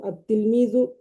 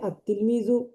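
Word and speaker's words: التلميذ: আস-সাআতু, আত-তিলমিজু, এই যে আলিফ লাম ঠিকই আছে কিন্তু লামটা আর উচ্চারিত হয় না, লেখায় আসবে লাম কিন্তু উচ্চারণে আত-তিলমিজু, আত-তিফলু, আর রজুলু, আজ-জাহরতু, আস-সাআতু।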